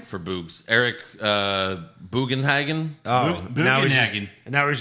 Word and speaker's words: Boogs: For Boogs? Eric Bugenhagen? Oh, now he's just, Bugenhagen. now he's just boobs? Boogs. Oh, boogs.